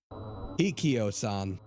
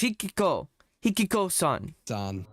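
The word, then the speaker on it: ひきこさん: Hikio-san. Hikio-san is the story of a young schoolgirl who... Yep. Hikio... Hikiko-san. Why? He's saying Hikio. It's Hikiko-san.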